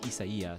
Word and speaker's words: Isaias: give you the proper because my name is properly pronounced isia so it's like oh yeah huh like if you didn't know spelling you know in in Spanish right like the proper you